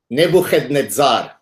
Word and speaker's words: Nebuchadnezzar: Can I pronounce him the correct way for you so that you get the whole? Yes. Nebuchadnezzar.